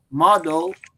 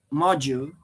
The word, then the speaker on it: module: correct on the time instead of to see model I I I should say module because module is related